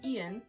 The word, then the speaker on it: Ian: So, how the story goes is that when he ends up going to school, E Ian, Ian, that's how you say it.